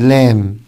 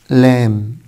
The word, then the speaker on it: lamb: يجي ورا حرف الام، البي فور بوك لما يجي ورا الام حبايبي مش بنطقه، شكل climb climb climb and lamb lamb lamb، يبقى دي هنقول على climb مش climb، وهنا هنقول lamb مش lamb.